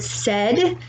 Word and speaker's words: said: sounds like a v the word said s-a-i-d but we say it like a like a e sound so these are really